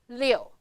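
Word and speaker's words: 六: Pronounce liù.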